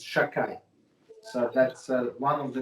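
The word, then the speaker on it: שַׁדַּי: I'm going to mispronounce, right? It's Shakai.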